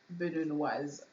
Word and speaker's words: Beninoise: So it's Beninoise. If there was no e like a man, we're going to say he's Beninois. So without the z at the end.